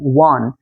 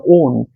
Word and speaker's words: won: WON, ওয়ান, তাই না? এটা উচ্চারণ কিন্তু অনেকে, আমিও ছোটবেলাতে কিন্তু ওয়ান বলতাম, ওন, ওন কিন্তু হবে না, ওন কি হবে সেটা